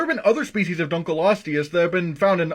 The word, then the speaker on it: Dunkleosteus: level possible this is actually pronounced dunkleosteus the reason why i say this is because the name means dunkel's bone what's a dunkle you may ask that's because it was named after a paleontologist named david dunkle and no i'm not